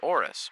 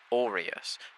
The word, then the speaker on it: Orus: And finally the continent itself is orus pronounced or us by the way not orius but I digress.